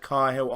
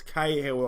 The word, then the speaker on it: Cahill: and car hails there why have I said car hill I don't know it's Cahill obviously Gary Cahill schools so infrequently don't forget how to pronounce his name and excitement height hurt